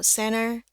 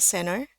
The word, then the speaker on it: center: somewhere near the C center atau center. Ada orang yang baca center ya, T-nya dia hilang. Tapi kalau mau dibaca center juga masih boleh.